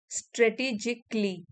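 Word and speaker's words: strategically: Effective individuals prioritise task स्ट्रेटेजिकली स्ट्रेटेजिकली सी ए एल एल Y last में अगर आता है उसको क्ली करके प्रोनाउंस करते हैं। जैसे मैजिकली या बेसिकली।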